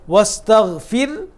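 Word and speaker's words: واستغفره: রাটাকে আমরা কী করলাম, বারিক করলাম, চিকন করে উচ্চারণ করলাম, কেন রাসাকিন তার ডাইনের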